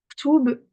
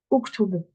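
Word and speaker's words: اكتب: Ktoub, ici, j'ai pas ma harakat. Quelle harakat vais-je mettre? Je vais regarder ma troisième lettre. Un, 2, 3, c'est une damma, ok. Je vais dire uktoub, uktoub.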